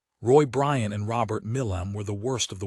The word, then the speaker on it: Milam: "They got his name wrong on the television, said it was Milan, but I'm suspecting it was Milam.